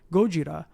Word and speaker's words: Gojira: that's very nice yes or for those of you out there who prefer the pure form of the pure pronunciation gojira but yes godzilla released